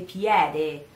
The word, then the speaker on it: piede: And here you have the word piede with the final E, that is E for you, but E for us. It is in the end of the word, and it's another vowel that can be forgotten or not pronounced properly, even for us. We have to pronounce it, but we don't have to say it too strong. So piede, you cannot say that. You have to say piede, piede.